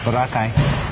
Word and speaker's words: Boracay: So I'm going to Boracay. That's how they say it over there. Boracay.